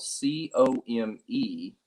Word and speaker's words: ComeUnity: There's also a Facebook page, but community is spelled COMEUNITY. So come unity.